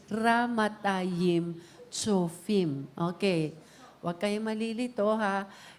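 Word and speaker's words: Ramathaim-Zophim: The right pronunciation is ramatayim chofim.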